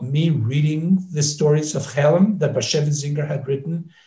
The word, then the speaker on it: Chelm: And he came up with beautiful adaptations of the Chelem story. Chelem is a perfect example of what Yiddish is.